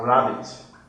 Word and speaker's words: rabbit: The BB, the spelling BB gives you the best sound. You are not going to have double B. It's just one, so it's the spelling BB that gives that to you.